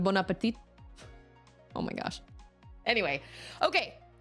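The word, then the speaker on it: bon appétit: Or bone apple tea. I guess it's not quite the same. Well, no. Yeah, it is. Bone apple tea instead of bonapet.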